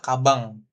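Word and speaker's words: かばん: Kemudian contoh yang lainnya nih kayak tas itu kaban ya kan, tapi bacanya adalah kabang.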